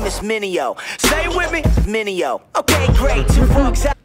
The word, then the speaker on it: Mineo: mistakes like DJ's must say my name is Minnie Oh Minnie oh okay great except I was basically